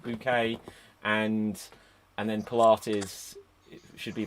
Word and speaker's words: Bucket: I think there should be something in the fact that her name's Bucket. She pronounced it bouquet, and then Pilates should be like Pilates or something.